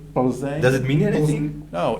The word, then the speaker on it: Plzeň: name for Plzeň. In Czech, it's actually Plzeň.